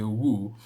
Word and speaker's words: who: I think sometimes I still tend to say woo, but now I know that I definitely know that woo is wrong and who is correct, and I tend towards pronouncing it like that now.